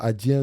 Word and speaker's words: Adyen: Euh Adyen, c'est Adyen Adyen, c'est comme vous voulez.